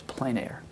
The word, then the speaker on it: plein air: So it's plein air. If you pronounce it in French, it's probably plein air, but you know, who would pronounce it in French?